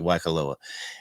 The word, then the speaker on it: Waikoloa: Yes, did I pronounce that correctly? Waikoloa.